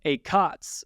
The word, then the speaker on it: ACOTS: say it doesn't because the accent is different ACOS accent on the first syllable ACOTS accent on the second syllable to really emphasize that "T" um because it's the